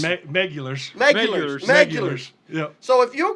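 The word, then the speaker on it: Meguiar's: he kind of asked me, how do you pronounce Yeah. that? And he said, like, what do you call it? Maculars. Megulars. Megulars.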